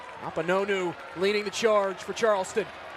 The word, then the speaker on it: Akpunonu: Akpunonu leading the charge for Charleston.